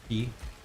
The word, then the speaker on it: quay: Key. Yeah, but quay sounds so much better, dude. If I say key, nobody understands what I'm saying.